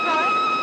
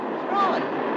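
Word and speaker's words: Froy: You said Freud? No, not even the Freud. I'm sorry, I can't hear. It rhymes with joy.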